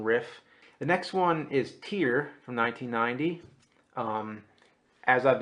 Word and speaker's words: Tyr: The next one is Tear from 1990. Um, as I've been told, it rhymes with beer. Okay, because I had no clue how to say it. I always used to think it was TYR.